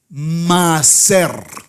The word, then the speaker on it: Maaser: Maser. Maser. Sí, la tal, pero es maser.